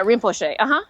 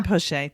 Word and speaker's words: Rinpoche: No, yeah, Rinpoche. Yeah. Rinpoche, thank you.